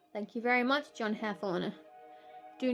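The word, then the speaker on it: Hathorne: It's spelt differently, but it's Hathorn.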